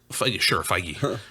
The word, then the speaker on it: Feige: Feige.